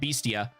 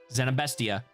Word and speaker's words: Zenabestia: There's no A there, so it's not beastia. Zenabesta. Zenabestia.